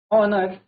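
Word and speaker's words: honour: इसमें आप एक तरीके से देखें तो एच जो है हमारा एच साइलेंट है। एच अगर साइलेंट होगा तो उसका जो प्रोनंसिएशन होगा वो हमारा क्या है? वोवेल वर्ड से स्टार्ट होगा। वोवेल से स्टार्ट होगा। इट मींस इसको हम पढ़ेंगे आर, ऑनर और एयर।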